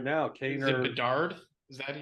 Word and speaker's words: Bedard: Is it Bedard? Is that how you say his name? Yeah, Connor Bedard.